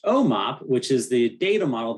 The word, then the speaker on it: OMOP: principal investigator of the observational medical outcomes partnership pronounced omop which is the data model used in the